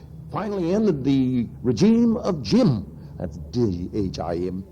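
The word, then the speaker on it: Diệm: students' rebellion that finally ended the regime of Jim. That's D-H-I-M, pronounced Jim, Premier Jim.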